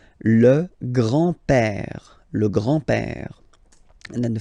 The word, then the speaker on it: grand-père: So, le grand-père, grandfather, le grand-père, remember, accent grave like that, it's this open père, le grand-père, le grand-père. And then the feminine form, grandmother, la grand-mère, la grand-mère. Okay, so les grands-parents, le grand-père, la grand-mère.